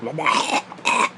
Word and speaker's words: Lamech: But you gotta say it like the Jews. Lamech.